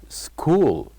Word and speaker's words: school: this word with me school school so the word school has one silent letter what do you think that silent letter is of course it is letter uh H it is letter H and finally by having